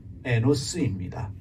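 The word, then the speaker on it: אֱנוֹשׁ: 하나가 이시, 남자를 뜻하면서 일반적인 사람을 뜻하는 이시라는 단어가 있고, 그리고 사람을 뜻하는 또 하나의 히브리어가 에노스입니다. 에노시라고 발음을 해요.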